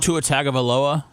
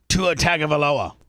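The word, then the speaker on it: Tua Tagovailoa: Tu Seth Tua Tua Tagavaloa. Tua Tagavaloa.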